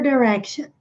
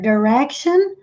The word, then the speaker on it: direction: To turn your eyes in a particular direction. E essa palavra tem duas pronúncias. Nós podemos dizer direction ou direction.